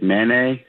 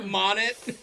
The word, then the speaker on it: Monet: Um, uh, that's how you pronounce it? I thought it was like Manet or Monet. No, dude.